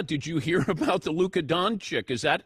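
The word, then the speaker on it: Luka Dončić: is talking about this is that how you pronounce his name I said yes it is Luca donic traded to the Lakers and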